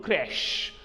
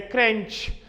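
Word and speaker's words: crèche: a preschool as a crunch or a crunch it is not crash or it's not crunch or a cringe it is Crash it is c-r-e-c-h-e it is crash it is Crash not crunch or crunch anyways when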